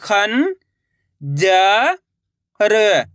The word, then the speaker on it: खंजर: देखो किस तरीके से ख में अनुस्वार की मात्रा है ख ज र। तो मिलके बन जाएगा खंजर।